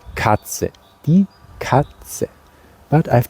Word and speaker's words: Katze: Cat is Katze. It's spelled K-A-T-Z-E.